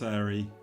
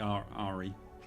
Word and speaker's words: Ari: Not Airy. Like Ari.